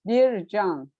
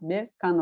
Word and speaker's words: Bircan: I am currently in Turkey, and actually my name is pronounced Bircan, not Birkan or Berkan. Can, like Jane, the sound is J is there.